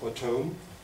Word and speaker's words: Bottome: herself should be pronounced Bome she writes somewhere bom rhymes on home so that's why I'm